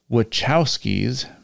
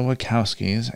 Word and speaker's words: Wachowskis: say his name and it is the wachowskis by the way not the wakowskis if i i don't